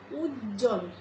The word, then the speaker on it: উজ্জ্বল: ধরনের বানান গুলিতে দেখবা উজ্জ্বল আমরা কি করি দুটো জ উচ্চারণ করি ঠিকই কিন্তু বটিকে উচ্চারণ করি না এখানে কিন্তু একটা জ